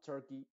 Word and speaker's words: turkey: Entonces, se diría money, honey, alley, attorney, chimney, journey, valley, Abby, hockey, turkey, fíjate tú, no se dice turkey, sino turkey, llaves, se dice key, donkey, No es donkey, sino donkey, jersey, valley.